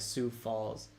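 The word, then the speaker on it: Sioux Falls: Cason is also saying pronounce Sue okay so like Sue Falls like the Indian tribe like I know the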